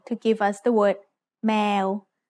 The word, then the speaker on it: แมว: give us the word แมว If you think แมว sounds like the noise a cat makes, that's because แมว means cat in Thai. Let's write cat. สระแอ มอม้า วอแหวน แมว Now it's time for Pratana's points.